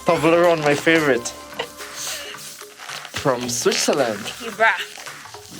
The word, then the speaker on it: Toblerone: Because it rhymes on testosterone. Toblerone, my favorite.